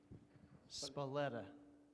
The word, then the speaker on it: Spalletta: do you pronounce that spalletta almost like sepulveda kids say spaghetti okay